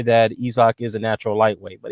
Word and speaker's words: Usyk: It's not Isaac as it's spelled out to be. It's pronounced Usyk, for what I was told.